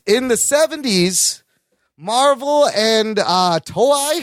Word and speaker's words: Toei: In the 70s, Marvel and Toei, how do you say the name of that? Yes, Toei.